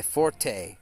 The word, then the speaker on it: forte: on mobile is my forte right but actually the French word meaning your best skill is pronounced Fort like a like a you know a a pillow fort or you know you